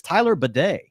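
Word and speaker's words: Tyler Badie: 59% of the offensive snaps and it is Tyler badet I actually heard that is the correct pronunciation from today so yeah prayers up to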